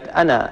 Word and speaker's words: أنا: تجدوا فوق الألف من كلمة أنا قد رسم صفر مستدير، هذا الصفر المستدير علامة على أن هذا الألف لا ينطق إنما يرسم فقط، وما أنا بظلام، ففي حالة الوصل كلمة أنا بما بعدها فإننا لا نثبت هذا الألف وإنما نحذف، نقول وما أنا بظلام للعبيد، بشرط ألا يقع بعد،